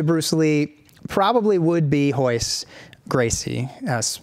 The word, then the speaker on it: Royce: Lee probably would be hoist Gracie has spelled ro yce most people mispronounce it Royce when they first see it right just like I